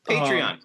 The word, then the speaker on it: Patreon: Patreon.